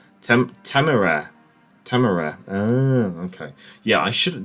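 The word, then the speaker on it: Temeraire: I'll stick with the 406s on Temerian. I don't think you'll have the option, unfortunately, to make less service pens on cruisers and Black DDs even more. And 406. Major Temerian is pronounced Temera.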